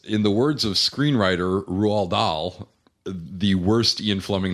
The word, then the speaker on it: Roald: Roald. Really? Yes. I thought it was Rolled.